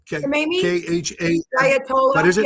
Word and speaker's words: Khamenei: Ayatollah Khamenei? Yeah, no, K-A, how do you pronounce his name? Khamenei? K-H-A. Ayatollah? What is it? Yeah. Yeah, Khamenei?